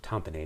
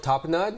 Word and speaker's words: tapenade: say this word right it's not olive tamponade it's top and top and not i think it's how you pronounce it olive tapenade is i thought that